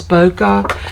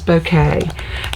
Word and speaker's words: bouquet: i love that bouquet i know some people pronounce that as boca but the correct pronunciation is bouquet and you have several pieces that have that